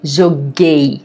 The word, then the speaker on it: joguei: You have to change the G to G-U, okay? Joguei, okay? If you don't insert the U, you are going to pronounce it as joguei. And you don't want to say joguei. Eu joguei, você jogou, nós jogamos, eles jogaram.